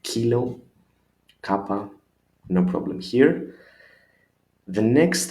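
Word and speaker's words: κάπα: Then we continue with kappa. Kappa is the same with K, a little bit different, the small one probably, but the sound is again the same, like kilo, kappa, no problem here.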